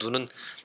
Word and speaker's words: 눈: 눈 눈 이야기 입니다 요즘 제 눈은 짧게 얘기를 발음을 해야 되겠죠 그 이제 요즘 아이들이